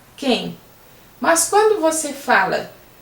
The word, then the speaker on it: quem: Quando você fala quem, o QU tem o som de K, quem.